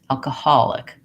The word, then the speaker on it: alcohol: And so I'll see that instead of having long, short, I have short, long, short, alcoholic.